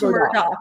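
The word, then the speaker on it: Murdaugh: Yeah, it's pronounced Murdoch, but it's not spelled that way.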